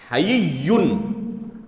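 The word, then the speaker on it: حيّ: اس کے بعد یا مشدد ہے تشدید کے ساتھ، حیّن۔ اور یہ نام جو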